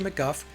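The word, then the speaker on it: McGough: So it's Roger McGuff and Vivian Stanshall.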